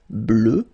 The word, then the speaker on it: bleue: Phonetically it doesn't exist because you don't pronounce it, so you get bleu as you would get for the masculine form, okay?